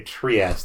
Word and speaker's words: Trieste: would pronounce that word they say Trieste if I read that I would say triste yeah I wonder if